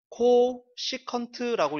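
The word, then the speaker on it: cosecant: 삼각함수가 등장을 했어요 자 csc 요거 어떻게 읽냐면은 코 시컨트라고 있습니다 sec C 컨트라고 읽어요 C 컨트 그 다음에 COT 코 탄젠트 라고 있습니다 이런 거는 코시컨트 시컨트 코탄젠트 요렇게 읽는다라고 알아두시면 되겠고요 코시컨트는 sin의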